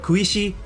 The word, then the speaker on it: Hisaishi: kanji for hisaishi uh the first kanji could also be pronounced as ku so it would be kuishi jool quincy jones i